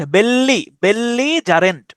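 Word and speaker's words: belligerent: তো বেলিজারেন্ট, বেল্লি জারেন্ট, বেল্লিজারেন্ট উচ্চারণ করতে পারেন, BEL, বেল, LI, বেল্লি, GE, যা, RENT, বেল্লিজারেন্ট, ঠিক আছে।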